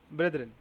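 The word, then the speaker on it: brethren: ব্রেদারেন, এটা যাক, তো উচ্চারণ করতে হবে। এটা পারবি ব্রেদারেন বলে।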